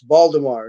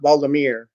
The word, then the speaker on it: Baldemar: to pronounce my name it's not mere okay party this Baldemar not Baldomir you know well that's